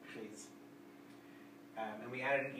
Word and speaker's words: prise: And when we add an E to a word that ends with a silent S, the S wakes up. And so this sounds like pris, this one sounds like prise.